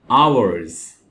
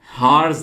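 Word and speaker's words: hours: और दोस्तों यहां पे आप एच को नहीं पढ़ेंगे, क्योंकि यहां पे एच साइलेंट है। तो ये वर्ड है आवर्स। हार्स नहीं पढ़ना इसको, आवर्स। और अगर एक घंटे की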